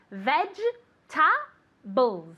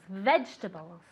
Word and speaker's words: vegetables: find the vegetables okay careful with the pronunciation of vegetables it's difficult to pronounce let's get be glad to repeat this can you tell me where where to find where to find the vegetables okay veg ta bulls vegetables can you tell me